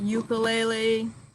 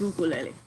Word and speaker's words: ukulele: is ukulele it's not ukulele no it's ukulele think of the word honolulu right honolulu they use our oo sound ukulele and so um